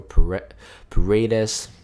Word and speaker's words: Paredes: And here is, so we're looking for Paredes. That's how you pronounce his name.